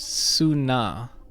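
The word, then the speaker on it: Selûne: the gemstone's characteristic purple heel soon is apparently pronounced sunnah strange i used to have the the book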